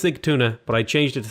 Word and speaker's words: Sigtuna: I know it's Sigtuna, but I changed it to Sagunta because I kept saying it wrong.